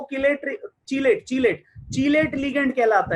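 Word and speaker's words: chelate: नहीं नहीं, इसका प्रोनाउंसिएशन कीलेट नहीं है बेटा, चिलेट है। ची बोले तो चिड़िया वाला ची।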